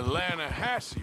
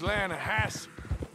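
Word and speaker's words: Lannahechee: trout you mean the lana hassie river no no no no the the latter hatch it runs right near here yeah but it's pronounced land has why is everything in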